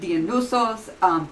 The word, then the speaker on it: Dionysos: So Dionysos, the Y when transliterated into English is actually usually the Greek umlaut. No, not umlaut. It's upsilon, which makes more of a U sound.